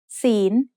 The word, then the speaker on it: ศีล: ศีล is said with a rising tone because it has a high-class consonant with a live syllable ending.